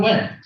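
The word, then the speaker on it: Nguyen: introduction to uh neguyen I think is how you say your last name no win you win so take it away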